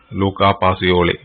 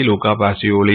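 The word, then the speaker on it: Luca Pacioli: ഒരു Italian word ആണ് പല രൂപത്തിൽ ഉച്ചരിച്ചു കണ്ടിട്ടുണ്ട് ഒരു ആളുടെ സോറി വേർഡ് അല്ല ഒരാളുടെ പേരാണ് അപ്പൊ നമുക്ക് എഴുതാനുള്ള സൗകര്യത്തിന് വേണ്ടി ലൂക്കാ പാസിയോളി എന്നൊക്കെ പറയും അത് ലാറ്റിൻ ഭാഷയിൽ ഇതിന്റെ ഉച്ചാരണം കുറച്ചുകൂടി വ്യത്യസ്തമാണ് എങ്കിലും തൽക്കാലം നമ്മുടെ ഒരു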